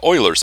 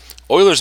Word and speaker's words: Euler: idea of what a solution would look like euler's method is a more precise way of doing this euler's method is named after a famous mathematician named leonard euler and his name is pronounced euler right now you should pause the